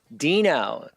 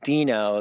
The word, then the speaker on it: Deno: node uh and the the pronunciation was was uh back ported to to uh fit the the dinosaur character uh uh so yeah